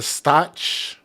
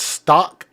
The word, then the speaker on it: Stauch: And I've always called her Leticia Stch or Staunch, but it's Stalk or Stalk, however you say it.